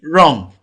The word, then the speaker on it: wrong: B, wrong. Wo is not pronounced in wrong because the first sound in that word is r.